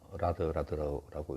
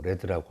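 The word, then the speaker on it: RAD: 이제 Rapid Application Development 라드라고 읽었는데 영어를 이제 줄여서 이렇게 하다 보니까 뭐 레드라고 할 수도 있고 라드라고 할 수도 있겠죠.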